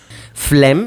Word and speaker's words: phlegm: the issue of spelling phlegm is notorious for confounding even the most skilled linguists with its silent or G and seemingly random letter